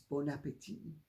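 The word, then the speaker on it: bon appétit: mind by saying but the t is silent it's bon appetit and she was very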